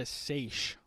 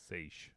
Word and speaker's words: seiche: It's called a seiche. Seiche. And how you spell it is Seiche.